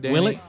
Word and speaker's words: Willett: Willett.